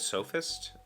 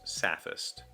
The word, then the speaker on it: sophist: h t i i so I would have said sophist but this pronunciation guy specifically says sapphist so is that I